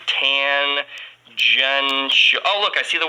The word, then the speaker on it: tangential: that the tangential velocity tangential is a nice word fun pronunciation tan junction oh look i see